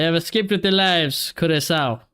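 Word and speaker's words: Curaçao: They have escaped with their lives, Curacao. Apparently, that's how you say it.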